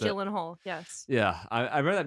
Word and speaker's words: Gyllenhaal: Is that pronounced it? Gyllenhaal, yes.